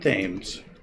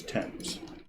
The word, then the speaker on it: Thames: It's not Thames, it's Thames. But yeah, you ask any of the locals, Thames.